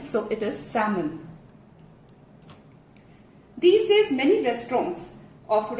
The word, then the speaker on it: salmon: So if you have been pronouncing it as salmon, it is incorrect. The right pronunciation, as you can see on the screen as well, is salmon, salmon. Just as L was silent